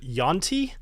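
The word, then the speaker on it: yuan-ti: posting that video that most people pronounce it Yonti. But you know what? In the Lands of Dimidium, they're called UNT.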